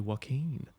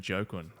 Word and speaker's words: Joaquin: what's going on bro it feels nice to have someone say my name properly yeah yeah I you know why I learned it I learned it from walking Phoenix yeah yeah cuz I on Jin my dad keeps saying jokin like it's not that's